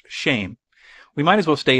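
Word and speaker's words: שם: Hebrew word for name, which is shem, pronounced shame.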